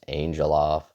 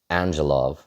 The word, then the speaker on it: Angelov: Nice debut for Tom Angelovv. I I would I want to pronounce it Angelof, but I think it's Angelov.